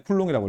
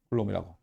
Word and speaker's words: 쿨롱: 쿨롱이라고 읽어요. 쿨롱이라고.